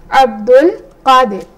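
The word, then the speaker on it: عبد القادر: So I will just simply pronounce it as Abdul Qadir. So I'll pronounce it as Abdu, right? And this alif is not pronounced. Just Abdul, I will just start pronouncing from here.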